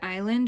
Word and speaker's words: island: land is land but in the word island we don't hear that s it's a little silly